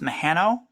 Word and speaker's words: Mehano: Correct me if I'm wrong, but I think it's pronounced Mehano.